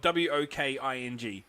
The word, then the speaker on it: Woking: down that way like there's one that's spelled w-o-k-i-n-g and they call it woking to me to me that's walking like when i when